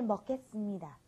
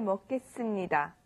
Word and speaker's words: 먹겠습니다: I think we had the 먹겠습니다, the s. You know, like I said, those sounds aren't in the English language, so you've got to pay special attention to pronouncing the extra s there.